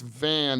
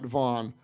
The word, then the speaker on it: van: And obviously was it Van or Vaughn? Van. I remember specifically thinking that was unusual because it's Van, not Vaughn.